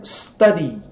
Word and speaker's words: study: Ó, verbo study, né?